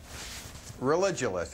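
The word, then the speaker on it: Religulous: name of your movie it's religionist it's like you're saying religion and then you go to ridiculous for obvious reasons well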